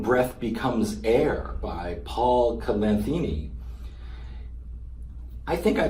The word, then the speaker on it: Kalanithi: prose biography, When Breath Becomes Air by Paul Kalanithi. I think I pronounced his name wrong. Kalanithi, also merit strong consideration as the backstop for such an exploration.